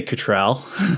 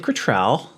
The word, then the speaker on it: Cottrell: Yeah, because most Americans say Cottrell. Oh, okay. It's Cottrell.